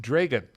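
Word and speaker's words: Dragan: from Serbian Serbian and it's pronounced Dragon it's actually pronounced dragon dragon so was C Draculas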